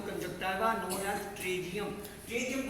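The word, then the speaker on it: pterygium: P silent है, पी के doctor ने स्पेलिंग लिखे, पी खाई गया, उसने ट्रीजियम लिखो।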